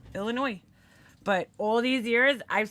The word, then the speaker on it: Illinois: He came in and he's like, "Oh, you New Yorkers say Illinois." And he's like, "There's no S." And I'm like, "Really?" And I look and I'm like, "Oh he's right. There's no S. There's no S. Illinois."